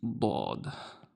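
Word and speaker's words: ض: And this one is dad. Dad. Very thick d. I know a thing about thick d's. Sorry. Anyway, sad. Dad.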